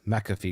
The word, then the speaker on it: McAfee: you say your surname is it john mcafee or john mcafee and he said it's mcafee because i'm american so uh so that's